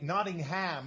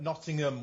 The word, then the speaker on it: Nottingham: Nottingham is what the Americans say, but Nottingham, we don't pronounce the H.